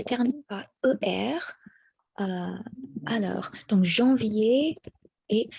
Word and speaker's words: janvier: Alors, donc janvier et février sont traités, they're treated like ER verbs in the sense that the ER à la fin is not pronounced. It's just treated like an accent aigu. Aigu. So janvier, it stops at E. So it's not janvier, but janvier. D'accord?